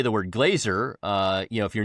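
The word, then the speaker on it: glazier: they mispronounce it and they see the word and they they pronounce it as glacier, you know, like like the the snow wy thing.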